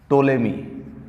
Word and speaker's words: Ptolemy: टोलेमी, PTOLEMY, P silent इसमें।